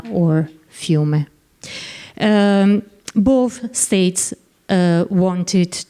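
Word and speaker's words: Fiume: means River um while in Italian it's called fume which means the same thing and in English when speaking in English we can use both uh terms Rea or fuma different authors make different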